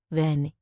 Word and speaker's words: Ven: It's short for Venicia, pronounced then.